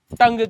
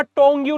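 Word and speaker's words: tongue: में पढ़ते हैं और टंग के बारे में पढ़ते हैं। अब जब आप टंग की स्पेलिंग देखोगे तो आपको लगेगा टोंग्यू लिखा है।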